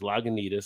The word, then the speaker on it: Lagunitas: If you ever wonder how to say this, Lagunitas.